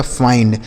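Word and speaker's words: find: आई के बाद अगर एन डी हो या एल डी हो तो इस आई का उच्चारण दोस्तों हम आई ही करेंगे, यानी इसका उच्चारण भी हमें आई ही करना पड़ेगा। जैसे यफ से हो गया फ, इस आई का उच्चारण दोस्तों आई हो गया, एन से आधा ना और डी से ड हो गया फाइंड, क्या हो गया?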